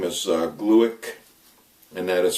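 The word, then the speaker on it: Glueck: couple married couple from Harvard name is uh glueick and that is spelled g-l-u-e-c-k and they just long-term longitudinal study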